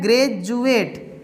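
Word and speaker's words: graduate: ज होगा, इसीलिए यहाँ ग्रेजुएट, यहाँ डी को क्या पढ़े हैं, ज पढ़े हैं।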